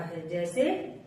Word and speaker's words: hedge: जैसे जी से पहले अगर डी आए तो हमेशा साइलेंट होता है।